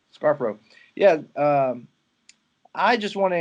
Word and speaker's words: Scarfo: Scarfo.